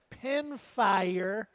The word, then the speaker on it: Pinfire: Also an alternative single in race number 7, the number 2, Pinfire. Rhymes with vampire.